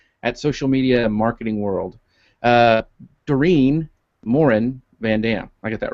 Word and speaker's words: Dorien Morin-van: Dorien Morin-van.